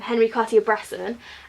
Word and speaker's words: Henri Cartier-Bresson: coffee it I didn't I say his name Henri cartier-bresson and and then underneath toilets you just pour